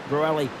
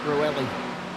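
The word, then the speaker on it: Bruxelles: Turn nine, I I should say, which was of course um Brueli. B R U X X is silent, I think. Bruelli E L E S.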